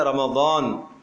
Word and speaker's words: رمضان: بھی تو دیکھو نا، قرآن کا جو تلفظ ہے رمضان، ضاد ہے، اس کو زا پڑھے گا، اس کو ذال پڑھ لے گا، اس کو زوئے پڑھے گا تو معنی تو بدل جائے گا۔ ویسے تو ہم رمضان